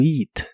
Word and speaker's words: eat: to eat la palabra eat se pronuncia con una I larga o doble to eat to eat y usar